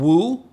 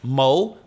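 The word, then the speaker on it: 武: Wu, Mandarin, Mo, Cantonese, comprised of stop the spear, but no one really cares about that.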